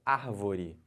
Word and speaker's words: árvore: uma palavra paroxítona e a palavra proparoxítona é quando a antepenúltima sílaba tônica olha o exemplo árvore Então você conta aqui ó última penúltima anti-penúltima a última antepenúltima sílaba é a mais forte Então essa palavra chamada